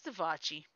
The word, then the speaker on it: Davachi: It's Devachi. It's spelled DAVACHI.